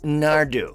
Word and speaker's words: Naru: road plays the character naru pronounced nardu since the story is